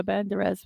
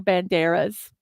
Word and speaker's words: Banderas: Because I think Antonio Banderas was in that, or Banderas. I say his name wrong. Put the accent on the wrong syllable.